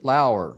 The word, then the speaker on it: Lauer: And with me are two senior contributors from Batman on Film, Peter Verra and Ryan Lauer, spelled like lower.